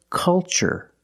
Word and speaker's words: culture: So the pronunciation? That's right, it's ch. The first word, culture. And the second word, cultural. Also remember the first syllable is a short U, like cup and up. Make a relaxed sound.